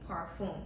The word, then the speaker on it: parfum: So it's kind of it's spelled the same, but when you see it on the tag, it'll be worded a little differently. P-A-R. So yeah, it's Parfum. Yeah, no E at the end.